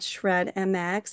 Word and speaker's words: Shred MX: Her name is Ashley Harris and Ashley um has a wonderful background in her company which is called Shred MX. I'm pronouncing that correctly, right Ashley?